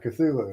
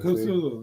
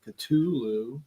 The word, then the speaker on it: Cthulhu: I mean, I've heard other people do the hard T where they say Cthulhu instead. But listen to Metallica when they do the Cthulhu song.